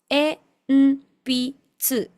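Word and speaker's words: 鉛筆: E, n, pi, tsu. E, n, pi, tsu. Enpitsu, enpitsu. Acá fíjate que este carácter se lee más que como una n se lee como una m.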